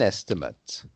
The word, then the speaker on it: estimate: pronouncing the ending eight but here it's the noun it's an estimate and so it's ut instead of eight you see that gary